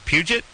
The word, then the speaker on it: Puget: at guess tonight jade is it Puget that's correct good job oh my god the first prisons ever could pronounce that right yeah put some French flavor Carson is in here